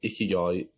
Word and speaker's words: ikigai: in I guess so ikigai is made up of two words um it's it's spelled i-k-i-g-a-i uh the first word is icky and that means life and then the second word is guy and that means kind